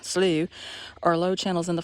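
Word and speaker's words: slough: boardwalk is called a good guts and slows pronounced slew are low channels in the forest that help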